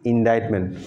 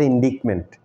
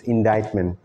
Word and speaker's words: indictment: conviction rates through indictment remember the pronunciation is indictment can you please find out the meaning what do you mean by indictment and the pronunciation that I said it's not indictment it's indictment what do you mean